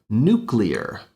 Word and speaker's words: nuclear: The way that a lot of native speakers will pronounce it is nuclear. Cure is nuclear power. Now, this particular mispronunciation is actually linked to a set time and generation because it was made popular by one of our ex-presidents, George W. Bush.